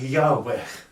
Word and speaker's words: Yahweh: is actually a race of beings called the Yahweh that's the right pronunciation for it so they were one lot